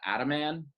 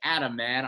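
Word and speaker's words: Ataman: do you pronounce that at a man i think it's like adam like attaboy man all right adam man i like that i'm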